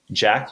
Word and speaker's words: Jacques: It's it's spelled Jacques, but he went by Jack.